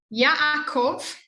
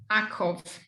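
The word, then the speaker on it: יעקב: Number 11, Yaakov. It's right, Yaakov, with both the a and the shva next to it. You just do the shva. Yaakov.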